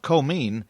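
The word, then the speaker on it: Comyn: you're a foreigner the town of comeen is spelled c-o-m-y-n the oil you know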